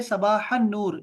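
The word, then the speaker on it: صباح النور: कहेंगे सबाहन नूर, यानी लाम साइलेंट है, जी सबाहन नूर।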